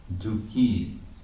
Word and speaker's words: dukhi: Dukhi, the word dukhi works like the word yogi in Sanskrit. There's yoga and there's the yogi. It's a long I in the nominative.